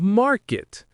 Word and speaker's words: market: Native speakers often use a subtle unreleased T sound at the end of market to distinguish it. It's not a strong clear T, but a slight stop of air that makes the difference.